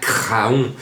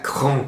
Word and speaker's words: Craon: il ya quinté à cran sur les ondes et disait il ya un quinté à craon alors je disais à giraldo mais non c'est pas à craon c'est à cran comme bien d'autres villes